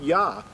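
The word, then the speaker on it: יה: translated means praise unto yah or yahuwah the the yad the the first letter of the yad and the hay would give you the pronunciation of yah and so a lot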